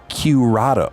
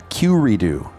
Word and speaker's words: Qredo: Josh Goodbody, Chief Operating Office of Curado, or Q. I don't even know how you pronounce this digital asset company. Qredo. Qredo. So Josh Goodbody, Chief Operating Office of Curedo.